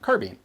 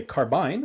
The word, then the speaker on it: carbine: troy gal5 replica of a u.s air force carbine copying what are you talking about what did